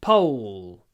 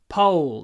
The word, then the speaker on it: pole: it Pole pole the the main sound in this word is the W sound you've got to hold it pole just then a little L at the end pole po W lots of w when you say pole pole uh okay the next